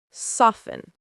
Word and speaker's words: soften: Silent T versus pronounced T. Listen, list. Castle, cattle. Fasten, fast. Often, soften.